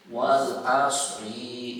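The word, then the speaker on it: والعصر: Cuma cara bacanya dibenerin ya. Karena kami dapati ternyata sampai sekarang polanya bacanya dari dulu sampai sekarang begitu aja. Wal asri innal insana lafi khusrin. Tuh, ringnya dipanjangin.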